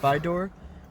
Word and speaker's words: Vidor: picking up in Burnsville Mississippi and it delivers to Vidor Texas at least I think that's how that's pronounced by door v-i-d-o-r that's how I pronounce it and um yeah that's